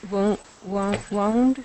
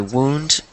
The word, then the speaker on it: wound: Wound. It's spelled the same way. Yeah. So it's pronounced differently. This one's wound, and the other one is wound.